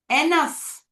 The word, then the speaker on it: enough: Enough, enough. ಸಾಕು ನನ್ಗಿದು. Enough. Sound, sound of letter F. GH is with GS is, I'm so sorry, GH is having F sound.